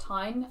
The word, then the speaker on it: TIJN: it's actually pronounced t-i-j-n but it's pronounced tine and they are an